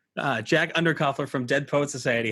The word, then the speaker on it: Underkofler: us today is uh mr jack will you pronounce your last name so i don't say it wrong under coffer uh jack undercoupler from deadpool society how you doing today jack